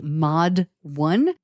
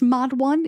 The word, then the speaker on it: MODD 1: I think it's pronounced Mod 1. It is spelled MODD 1.